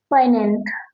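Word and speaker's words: poignant: तो हर्डल का मतलब होता है बाधा जो ऑब्सकल एंड इंपेडिमेंट एंड नेक्स्ट वर्ड है पनेंट। फाइनेंट का मतलब होता है इसमें जी साइलेंट होता है।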